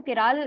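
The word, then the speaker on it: chiral: molecule you have cat आप इसको pronounce करते हो तो केरल आपका वो होता है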